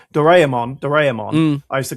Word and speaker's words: Doraemon: The way once you get it, because we kind of like mishmash our vowels together, right? So it would be Doraemon, whereas they're very phonetic, right? Doraemon.